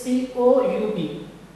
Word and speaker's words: coup: This is the spelling of this is C-O-U-P, but U and P is the silent and it is simply pronounced as coup.